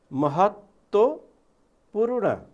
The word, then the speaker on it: महत्त्वपूर्ण: महत्त्वपूर्ण ल। यस्तै गरी यी महत्त्वपूर्ण, यहाँ आदि दोब्बर तलाई दोब्बर बोलिएको छ।